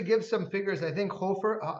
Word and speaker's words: Hofer: But to pronounce it the right way, it's Hofer, and it's originally or